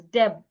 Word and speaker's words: debt: For example, if I want to pronounce the word d e bt, the letter b in this word is silent. So I should not pronounce the word as debt because the B is silent.